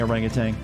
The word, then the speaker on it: orangutan: Because there is no G at the end.